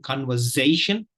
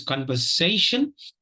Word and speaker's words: conversation: Please notice here, it is the sound here, the third syllable is s and not z. So please don't make this mistake of saying conversation. Nothing wrong in that, but it's not quite accurate. The pronunciation will not be quite accurate. So it's conversation and not conversation.